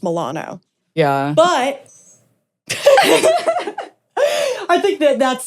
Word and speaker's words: Milano: But her last name is actually pronounced Milano.